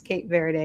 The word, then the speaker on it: Cape Verde: I'm like, and a lot of places were like, it's pronounced Kate Verd. And I'm like, I've never heard it pronounced like that.